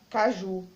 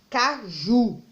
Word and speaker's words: caju: Caju, eu sei que as palavras quando terminam com U e não é acentuada, eu estudei isso ontem, eu sei o quê? Que as palavras terminadas com U, a sílaba tônica é a última. Então, caju, ela é uma oxítona.